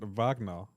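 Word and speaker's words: Wagner: Kirk pronounc it vagna because that's how German is pronounced their W's.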